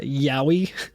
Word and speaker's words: Yowie: found it interesting that its name is uh yowie that is spelled y o w i e and not